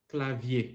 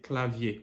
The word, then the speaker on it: clavier: mean and just to let you know something clavier that's how you pronounce it clavier what does it mean set password password okay